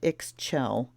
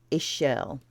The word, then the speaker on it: Ixchel: It's not Ixchel. I know that. So if nothing else, you're getting a pronunciation guide today. Ichel. Okay, that's what I thought. Ichel. But even simpler, just Ichel.